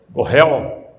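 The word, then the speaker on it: Goel: na época, tal de Goal, eu não sei se pronuncia assim, mas essa lei, como Gohel, aí tá vendo, professor aqui de hebraico, né? Gohel, escreve G-O-E-L, mas é G-A, apóstrofo, alguma coisa, se for lá mais na língua hebraica.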